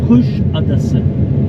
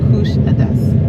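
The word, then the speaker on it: Kuşadası: Kusadasi. Kusadasi.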